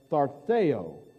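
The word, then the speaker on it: θαρσέω: It's pronounced tharteo, to exercise courage.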